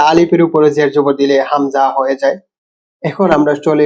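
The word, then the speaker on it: همزة: এইবার আমরা শিখবো হচ্ছে হামজা। হামজা হামজা, নাম হামজা। উচ্চারণ গলার একদম গভীর থেকে একটা ঝটকা দিয়ে আ উ ই, বাংলা ধ্বনি আছে না।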